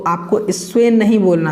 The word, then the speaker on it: स्वेन: स्वेन जो है स्वेन आपको पढ़ना है।